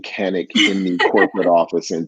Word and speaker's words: Canik: importer of the North American importer of Kanak it is pronounced Kanak oh and if you go to Turkey they may say it another way but we've got them even saying Kanak in the equipment office in Turkey that is